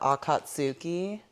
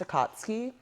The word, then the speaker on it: Akatsuki: And one time as I was watching it, he kept calling it the Akatsuki, you know, cuz men just feel like they know everything. Uhhuh. And I was like, "What did you say?" Um, it's pronounced a katsky.